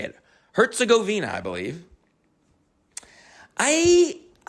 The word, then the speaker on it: Herzegovina: Herzegovina, I believe.